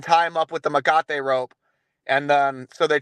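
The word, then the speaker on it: mecate: And as he mentioned before, it is Makate, right? That is the correct pronunciation.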